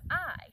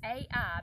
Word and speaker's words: Ai: the next city of Ai. And it's just A-I, but it's pronounced I.